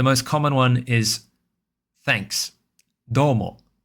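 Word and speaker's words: どうも: Domo. With the do high pitch and the umo lower pitch. So, there's a drop after the do. Domo. Domo. Okay?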